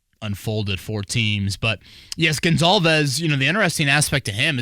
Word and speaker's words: Goncalves: It's not Matt Goncalves, not Matt Goncalves. It's Matt Gonzalez, offensive tackle from Pittsburgh.